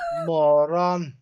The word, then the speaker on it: moron: Moron. Yeah, moron. And it's spelt moron. Is it? Yeah, it's spelt moron, but it's pronounced moron.